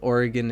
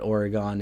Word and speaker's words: Oregon: Um, and but yeah, it's uh like Oregon and Nevada out at least in the New England Northeast area, we usually call it Oregon and Nevada, but I was I was learned that it's Oregon and Nevada.